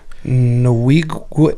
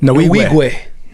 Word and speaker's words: Nwigwe: How you pronounce his last name, Gil? Nwigwe. Nwigwe.